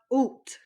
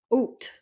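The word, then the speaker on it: août: August so we have oot oot is August oot it's like saying O with the T at the end oot all right up next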